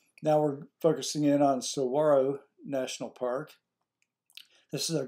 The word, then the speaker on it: Saguaro: National Park now keep in mind I've always pronounced that Saguaro but the people at the national park pronounce it Saguaro like to replace the G uh and the